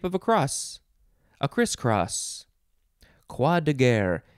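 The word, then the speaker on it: croix: r o i x that's pronounced qua or crois if you want to get that r sound then de and then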